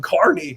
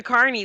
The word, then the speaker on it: Kearney: I might be like, we'll be live from Kearney next week.